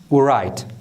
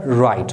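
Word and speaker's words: write: په دې کښې که چیرې ډبلیو د آر څخه مخکې راسي د کلمې په سر کې هلته ډبلیو نه تلفظ کیږي یا نه ویل کیږي. یعنې نو سو ویلی چې دلته دا ورایټ، ورایټ نه سو ویلی، غلط دی. دا به رایټ وایو.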